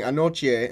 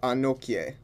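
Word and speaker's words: Anokye: being pronounced like ki the combination of k and y actually make a chi sound so when i say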